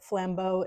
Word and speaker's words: flambeaux: And I would encourage you to look up the flambeau of New Orleans. It's a French word, and it means flames. And flambeau is spelled Flambeaux. It's plural, but it means the torches, basically.